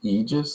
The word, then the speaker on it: Aegis: about before yeah and it's pronounced aegis so the a is silent and i was trying